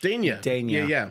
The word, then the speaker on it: Dania: Is it pronounced Dania Beach? Dania Beach? Dania. Yeah. Three Close Sons. Enough. Oh, Three Sons. Okay. Great Dania. Yeah. So like Dania McKellar that played Winnie Cooper.